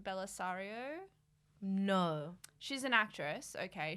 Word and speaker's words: Bellisario: Bellisario, yep, and Troyan.